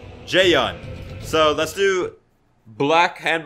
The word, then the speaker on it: Jaeyun: handbook black jay-yong okay now I know how to say his name I've been saying Ju in this whole time jae-young so let's do black